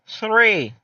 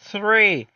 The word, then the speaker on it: three: O número 3, a gente vai ter uma pronúncia específica. A gente coloca a nossa língua, no meio dos nossos dentes. E a gente fala o número. Three. Como se a gente estivesse assoprando.